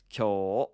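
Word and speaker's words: きょ: And technically, it's a long O sound written with an U. So, kyo.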